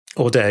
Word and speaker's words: Audere: Yeah, and the beginning of your own business, I'm going to make a balls of pronouncing it again, but Audere? Audere, yeah.